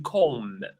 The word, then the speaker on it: comb: the second word to comb. We don't pronounce the B. The B is silent. We don't say to comb. We say to comb, right?